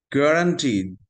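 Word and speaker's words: guarantee: গ্যারান্টি, জি UA, your উচ্চারণ নাই।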